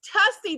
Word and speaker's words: Tussy: No, it's Tussy that rhymes with fussy.